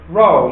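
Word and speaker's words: rho: How do we pronounce this Greek letter? Row.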